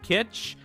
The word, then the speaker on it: Kitsch: uh Kitsch Kitsch pronounced similar to Kitsch as in kitchen sorry I really like